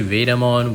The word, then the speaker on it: Vademon: Why do I say Vademon when it's spelled Vade, like Vademon? Well, according to Wikimon, its potential etymology or origin of its name is from the word invader, which is pronounced invader in Japanese characters.